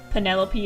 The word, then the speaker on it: Penelope: I can't wait for someone to pronounce Penelope is rhyming with antelope and envelope.